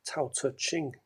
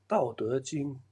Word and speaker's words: Tao Te Ching: You may know him in the West as Lao Tzu, who wrote the Tao Te Ching book, but it's actually pronounced Dao Te Ching.